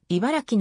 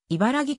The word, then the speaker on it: 茨城: 強いメンバーであり茨城の発音には特にこだわりを持っているテレビ番組などで茨木と濁音化した言い方をされると